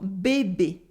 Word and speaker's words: bébé: C'était de faire des bonnets pour bébé. In bébé, you have two E sounds and the S is silent at the end.